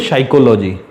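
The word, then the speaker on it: psychology: देखिए, इसको बोलते हैं साइकोलॉजी, इस शब्द में पी साइलेंट है, इसमें नाइफ बोलते हैं के साइलेंट है, इसको आवर बोलते हैं एच साइलेंट है।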